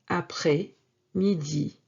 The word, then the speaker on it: après-midi: And yes, this S is not pronounced. Bon après-midi.